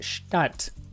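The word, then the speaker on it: Stadt: German City well a city in Germany is pronounced shat a lot of people think they see shat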